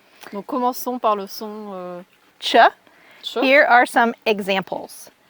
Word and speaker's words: ch: And so when it comes from French, we've kept, for the most part, the pronunciation of the CH as ch, like in French.